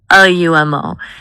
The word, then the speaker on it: Lumo: Lumo. It sounds like light or lumen. It's two syllables.